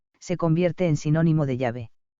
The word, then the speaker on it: Yahvé: Jehová es una falsa pronunciación del nombre de Yahvé, que pudo ser introducida hacia el año 110 después de Cristo por los masoretas, que vocalizaron el nombre de YHWH, hasta entonces transcrito sin vocales.